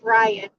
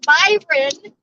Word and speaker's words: Byron: Somebody's name is pronounced Byron, and that is what they want to be called. You respect that. You don't say, hey, I'm from a different country. Here, that's not how your name's pronounced.